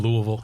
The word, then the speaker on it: Louisville: He says, I'm guessing that there won't be any PGA events in Louisville for a while.